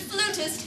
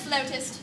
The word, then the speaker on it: flautist: Well, darling, if you pronounce it flutist, everyone will laugh. It's pronounced flautist.